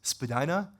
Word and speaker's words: Spadina: I was just walking by, I believe the Canadian pronunciation is Spadina, is that right?